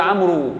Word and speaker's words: عمرو: عمر وما بين كلمة عمرو. بس أنا ما بنطقش الواو بتاعت عمرو، يعني أنا ما بناديش على حد وأقول له يا عمرو، مش حاجة اسمها يا عمرو، وهو عمرو بس.